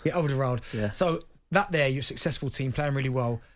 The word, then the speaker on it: Alderweireld: Alderweireld. Yeah, Alderweireld.